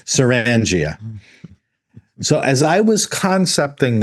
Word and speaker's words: Sirrangia: I I I made this name. I should be able to pronounce it. Serangia.